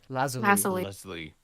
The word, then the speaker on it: lazuli: Lazuli.